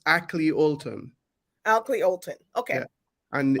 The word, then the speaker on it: Akley Olton: I pronounced your name correctly, AKLEY OLTON. Is that right? It's AKLEY OLTON.